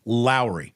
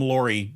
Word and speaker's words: Lauri: marinan though excuse me Lowry it's not lur it's Lowry is it really it is Lowry Markin like Mike Lowry from the Bad Boys movie like Lowry Lowry marinin